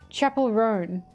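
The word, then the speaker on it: Chappell Roan: Oh, it's like Chapel. Chapel Roan.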